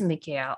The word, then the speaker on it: Michael: I think his traditional pronunciation is Mikhail. I just always say Michael.